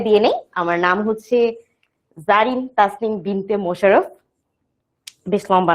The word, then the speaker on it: Zarin: কিন্তু এটা হচ্ছে যে আমার উচ্চারণটা কি জারিন, বাংলায় লিখলে ব্যাপারটা হচ্ছে কিছুটা এইরকম।